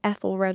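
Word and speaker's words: Æthelred: AEthelred the Unready. Some people say Ethelred as well. I think both pronunciations are fine.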